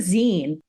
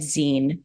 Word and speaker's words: zine: don't know that you it's like short for magazine um so Zen is